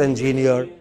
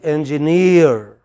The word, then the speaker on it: engineer: is it next next no is not engineer it is engineer imagine you are pronouncing this what is this ng ng near what is the word